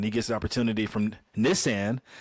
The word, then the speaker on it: Nissan: gets the opportunity from Nissan. It's pronounced Nissan, which I learned in the movie, not Nissan.